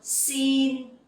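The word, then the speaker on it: xin: sin down sit down the X sound you will pronounce like in English like the S sound in English Okay it's like in speaks so scene and the sound in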